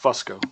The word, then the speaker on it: Fusco: uh no but my it's technically pronounced Fusco but nobody ever says that yeah well I'm